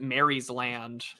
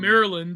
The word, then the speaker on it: Maryland: no one it's like no one in America calls it Mary's land um Maryland yeah that's Maryland Maryland uh in your